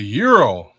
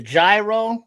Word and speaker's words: gyro: Oh, you got the the euro, the gyro, the groy, the euros. You know, depends on where you at how you say it.